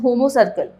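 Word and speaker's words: homocercal: देखो यहाँ पे एक लिखा है, एक वर्ड लिखा है that is called as होमो सर्कल। हम लोग इसको होमो सर्किल की तरह प्रोनाउंस करते हैं ना।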